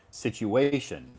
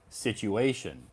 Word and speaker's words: situation: with the pronunciation so the emphasis is on the third syllable so we would pronounce this this word situation situation yeah uh can you